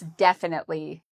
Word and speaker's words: definitely: Well, this adverb has the stress on the first syllable. So we would say very strong and loud. Definitely. Definitely. and there are 4 syllables.